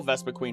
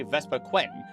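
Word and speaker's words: Vespiquen: It's spelled with only one E at the end, as if to say Vespa Quentin, which is not how it's said in the anime or anywhere else.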